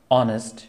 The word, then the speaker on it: honest: যেমন honour, honourable, exhibition, ভিকল, Thomas, hour, ইয়ার, exhibit, vehement, terms, honest, honesty, honest, এই ধরনের ওয়ার্ডগুলো অ্যান্টনি, যে এই উচ্চারণগুলো হয়ে থাকে না।